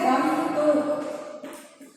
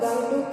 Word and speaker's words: गंगटोक: तो राजधानी का इसका उत्तर है गंगटोक। हिंदी में इसका उच्चारण हम लोग गंगटोक करते हैं और इंग्लिश में इसे गैंगटॉक बोलते हैं।